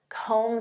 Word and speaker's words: comb: Next, comb through. Do you have time to comb through this report? Do you know what this means? To comb through. And notice that B is silent.